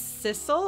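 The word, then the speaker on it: Sissel: ghost we do tricks the ghost's name ostensively is sisle and I'm only able to remember that because it rhymes with missile I don't know if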